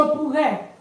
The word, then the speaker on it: pourrais: It's pronounced pou. Je pourrais.